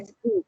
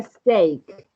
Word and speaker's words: steak: No se pronuncia stick, se pronuncia steak.